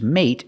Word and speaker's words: mate: We use a stop T at the end. Put the tongue up and stop the air. Mate.